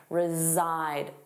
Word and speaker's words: reside: Notice that pronunciation, reside, z-zide, the voiced sound, reside.